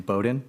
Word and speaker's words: Bowden: uh just to clarify you pronounced her last name Bowden not Bodean okay good to know